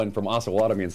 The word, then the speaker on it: Osawatomie: Osawatomie. Osawatomie. Just as I was saying it earlier. Just as soon as I say that, somebody's going to call in from Osawatomie and say it's Osawatomie.